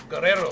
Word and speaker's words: Guerrero: Can you please, you need to roll your R's, okay? Guerrero.